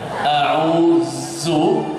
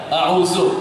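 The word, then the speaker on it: أعوذ: Yang biasa bacanya salah, Dha. Dha. A'udhu, salah. Ya. A'udzu, qul a'udzu bi rabbin nasr. Yang benar dha a'udzu, ya.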